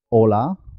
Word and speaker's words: hola: La H hay que tener cuidado con ella, porque como no suena, puede confundirse con otras palabras como hola, saludo, y ola del mar. Hola se escribe con H. Hola se escribe sin H. Las dos suenan igual.